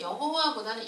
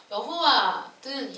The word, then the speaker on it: 여호와: 하나님의 이름을 알려주셨을 때 이 여호와, 요즘 그 신학자들의 얘기로는 여호와보다는 야훼라는 것이 더 원래 하나님이 알려주신 그 이름의 발음에 가까운 것으로 보고 있다고 하더라고요. 그래서 여호와든 야훼든 똑같은 이제 하나님의 이름.